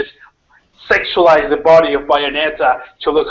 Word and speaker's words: Bayonetta: Bayonetta, exactly.